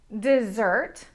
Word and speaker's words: dessert: The difference is in where the stress lies. Dessert desert dessert desert. Can you hear which syllable I'm stressing most in dessert and in desert?